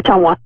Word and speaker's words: Ottumwa: Ottumwa? Yeah, Ottumwa.